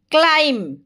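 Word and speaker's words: climb: clean মানে সফা করি ক্লাইম্ব ক্লাইম্ব মানে চড়িবা এটি বি সাইলেন্ট রহিব ক্লোজ ক্লোজ মানে বন্ধ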